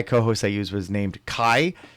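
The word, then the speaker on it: Cai: So, the AI co-host I used was named Kai, spelled C-A-I, but pronounced K-A-I, like a hard K.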